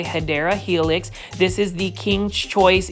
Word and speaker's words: Hedera helix: You will see a Hydra helix. Say it with me, plant foldies. Hydra helix, or the correct way to say it, if you want to say it the correct way, Hedera helix.